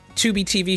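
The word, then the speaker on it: Tubi: go check that and 2b is spelled t-u-b-i i just want to point it out because i'm sure nobody it sounds like you would know but you probably say t-u-b-b-y but no it's t-u-b-i and they got commercials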